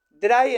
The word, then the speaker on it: drei: Bueno, dry entonces se escribe Drey y se pronuncia dry como Einstein.